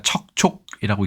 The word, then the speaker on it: 척촉: 어떤 뜻을 가지고 있을까요이 한자는 우리가 척촉이라고 읽습니다 상당히 발음도 쉽지 않은데요 자 이것은 철이라는 말에